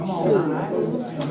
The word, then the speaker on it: schön: Thank you, yes, they pronounced it schön.